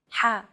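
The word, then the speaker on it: ح: the letter ha is pronounced deep in the throat ha this sound is pronounced very deep in the throat you want to make an H sound but with the throat constricted a little ha one trick to produce this sound is to push your tongue as far back in your mouth as you can and then say the word hot it should help you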